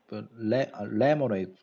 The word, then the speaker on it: lemonade: of lemonade yes laughs lemonade stress on the first syllable lemonade lemonade I had